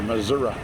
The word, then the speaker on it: Missouri: But to be fair, I I I noticed they do that in Missouri, too. Or Missoura, if you're not um a local or resident or whatever.